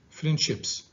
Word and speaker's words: friendships: Okay, when it is located after a voiceless sound, a voiceless consonant, it is pronounced S. So you say friendships.